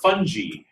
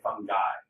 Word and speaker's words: fungi: And it is a soft G. I hear a lot of people say fungi. Um, fungi is somebody who's at your party. Makes it a better, right? It's a soft g fung.